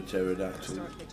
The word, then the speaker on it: pterodactyl: Why can't you hear a pterodactyl go to the bathroom? It's nearly December, so I guess the Christmas cracker joke's coming out early. Not expecting much from this punchline, Tower. Because the P is silent.